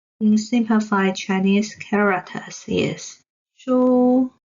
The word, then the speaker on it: 書: So they both have the same pronunciation of shi, wu, shu. You can hear the sound of shu without any ups and downs or transitions.